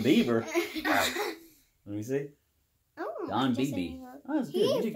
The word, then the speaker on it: Beebe: Don Bieber. Justin Bieber. Let me see. Don Beebe. Oh, that's good. You did good pronouncing that.